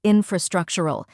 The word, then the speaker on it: infrastructural: pronunciation is infr structure first we have in which sounds just like the word in next fru where the